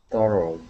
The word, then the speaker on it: startled: Okay, but just remember that instead of saying startled and pronouncing that ed sound, because it ends with an L, we go straight to the D in saying startled.